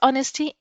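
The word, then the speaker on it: honest: ए ऑनेस्ट man often page for हिज ऑनेस्टी, एन ऑनेस्ट मैन, ए नहीं एन ऑनेस्ट मैन, क्योंकि H silent है।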